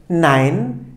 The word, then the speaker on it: nein: şekilde yazılıyorsa Eğer Arkadaşlar bu tek başına ay şeklinde telaffuz ediliyor bu da bir örnek nein nein hayır demek arkadaşlar Dolayısıyla